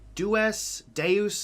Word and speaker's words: Dues: It took me a while to figure out how to say the last part because I was thinking of Deus Ex. That was like the first thing that came to mind. Now, this is like paying your dues.